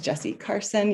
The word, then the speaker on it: Jesi Carson: as well for being here my name is jessie carson you did pronounce it right i'm participating as lead designer